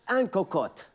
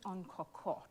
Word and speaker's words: en cocotte: Egg en cocotte. We'll take it. How would you say it? No, you got it. Amber, how would you say it? Egg en cocotte.